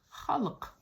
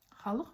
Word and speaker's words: халық: Сегодня мы будем запоминать такое слово, как халк. Халох. Вот здесь вот к с хвостиком. Она звучит не не к, не х, а к халк.